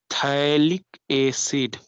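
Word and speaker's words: phthalic: This is called थैलिक एसिड। PH silent है, थैलिक एसिड, इट is called एसिड, थैलिक एसिड।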